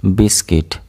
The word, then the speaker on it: biscuit: Here U will be silent. Biscuit. Biscuit. Here U is silent.